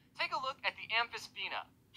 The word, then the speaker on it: Amphisbaena: Take a look at the Amphisbaena. Amphisbaena.